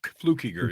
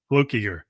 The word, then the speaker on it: Fluckiger: could pronounce from fluke it's fluke instead of flu flukiger yeah oh flukiger okay well then we